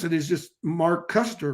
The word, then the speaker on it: Koesterer: e-r-e-r and i think the way you pronounce your name mark you pronounce it mark custer and my last name